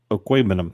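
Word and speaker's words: Okwuegbunam: Okwebunum. That's what I said. Totally. Do we think that Okwebunum is going to get that many targets?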